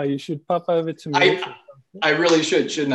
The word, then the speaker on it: Mauritius: Therefore, he went to Mauritius. Is that how I'm pronouncing that correctly? Mauritius?